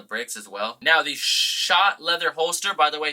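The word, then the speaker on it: Schott: Someone finally told me that it's pronounced Shot, which does make sense, because I know with a lot of last names that have SCH, it's sh.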